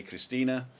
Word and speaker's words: Christine: For those of you just joining us, and Christina spells the name Christine, and the Germans just pronounce the E. So I say Christina, and it sounds like Christina, but she spells the name Christine.